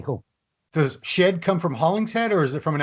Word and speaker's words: Hollingshead: does shed come from hollingshead or is it from an actual like it was because people were pronouncing my name wrong so my american friends were saying hunting shed so that's why yeah